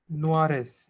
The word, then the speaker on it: noirs: And in plural, It will be les robes sont Noires. NORES. So it will be noir. noir. Only. Pronunciation will remain the same, noir, but you will write NOIRS, right?